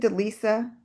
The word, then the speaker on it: Delisa: Is it is it Delisa? Am I pron I hope I'm pronouncing your name correctly? But the reward is Yeah. Yeah. Yes, that is uh that is correct.